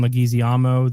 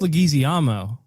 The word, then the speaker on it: Leguizamo: Jean-Claude Van Damme, John Leguizamo, the clown from Spawn. I really liked how you said that. How do you pronounce it?